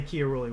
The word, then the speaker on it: Chiarulli: They told me that my name is pronounced exactly how you said it here. So I try to say Chiarulli when I can.